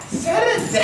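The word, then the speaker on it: サラダ: Da da da da, Salada, ha, ha ha ha (Salad is pronounced SALADA in Japanese) Shintaro: It's not even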